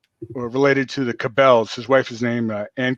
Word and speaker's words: Cabell: No, and that's important, because Cabell is really one of the first families of or Cable, as some people pronounce it. It might be pronounced Cable. I've heard it both ways.